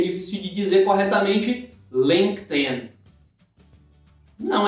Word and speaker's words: LinkedIn: Só junta o link, linka o in no final, fica LinkedIn. Mais uma vez, repeat, LinkedIn. Mais uma vez, sílaba tônica sempre a primeira, LinkedIn.